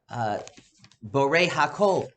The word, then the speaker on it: Borei Hakol: The previous bracha was about Borei Hakol. The stress is on Hakol, that Hashem is the creator of everything, as we discussed, good and bad.